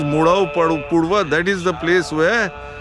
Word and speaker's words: Murau Purwa: in the Buddhist text they have mispronounced it as MGA uh pasanda MGA pasanda it is not M MGA is Mur pasanda is Pura Mur Pura the place's name is murva that is the place